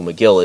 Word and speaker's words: McGill: about, finding out who McGill is. Just call them Kill McGill, like Kill Bill, because it rhymes with kill, Kill Bill, Kill McGill.